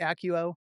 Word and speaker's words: ACUO: So my website is ACUO, I pronounce it ACUO, so ACUO hyphen BC, that stands for business consulting, .com.